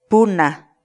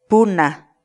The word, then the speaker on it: puna: de vídeos en la que te enseñamos a pronunciar algunas palabras en quechua así que nuestra palabra del día por hoy es pula pugna pugna la palabra quechua pulga en español significa una